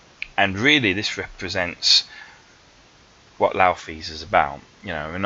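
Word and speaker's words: Nauthiz: And this is the rune that is spelt Naufis, but is actually pronounced Laufis.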